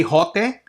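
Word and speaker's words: ὅτε: Why did I say hote? Because there is a rough breathing mark on top of the first syllable.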